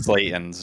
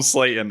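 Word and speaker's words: Slaten: I love the way he pronounced Justin Slayton's name. Do that as well. Huh? What does he They say? call him Justin Slatton. Slatton every time.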